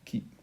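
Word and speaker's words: χ: Ça s'écrit chi, mais ça se dit qui.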